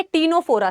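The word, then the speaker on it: Ctenophora: 10 से आता है टीनोफोरा, सी साइलेंट होता है, सो दिस इज टीनोफोरा।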